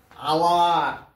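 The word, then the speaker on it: hour: দেখি এটা আমরা একটা বলি আওয়ার। কি আওয়ার? অ্যান আওয়ার। কেন না? এইচটা উচ্চারিত হয় না, উচ্চারিত না হয় মানে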